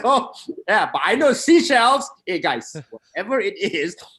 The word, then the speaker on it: Seychelles: Seychelles, yeah. Seychelles is to pronounce it, but we knew what you meant, mate.